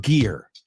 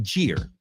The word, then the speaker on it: gear: All right, so that word gear, just make sure you don't pronounce it ger.